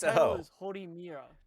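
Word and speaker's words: Horimiya: But so the one that you kept on mispronouncing, it's The hoe? its title It's a hoe. is Horimira.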